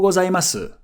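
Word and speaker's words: ございます: The kana is su. So if you really wanted to be proper, you would say Ohayo gozaimasu.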